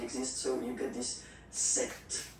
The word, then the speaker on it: sept: Then here, remember, P is not pronounced. Okay, it doesn't exist, so you get this sept sound.